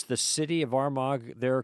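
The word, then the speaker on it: Armagh: Did Did I pronounce the city of Armag there correct? You got the city of Armag correct. Yes, we uh don't pronounce our G's sometimes.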